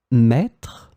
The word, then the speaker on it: mètre: In this lesson, we will see together 3 words that will be written differently but pronounced the same way. Maître, mètre, mètre.